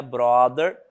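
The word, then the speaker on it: broader: contexto social mais amplo a palavrinha brother não é irmão tá ele é uma palavra que se pronuncia igual mas a a grafia é diferenciada e ele significa amplo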